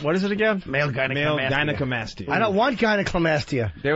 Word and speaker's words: gynecomastia: Gynecomastia. Uneducated and buffoon. President Bush pronouncing gynecomastia. Is it gyneca or gynecla?